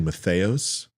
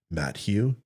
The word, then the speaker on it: Mathias: excuse me it's math it's actually Mathias it's not Matt Hugh you ignoramus pump his